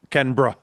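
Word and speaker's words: Canberra: Well, that's Yeah, pronunciation is Kenra. C A N B E R A.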